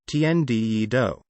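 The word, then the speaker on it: Tian Di Yi Dou: singer jae chow's single the heaven and earth challenge tienda yee doe pronounced tnde do the proceeds for downloads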